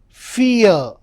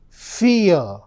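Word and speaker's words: vier: So V is always pronounced with the sound of F.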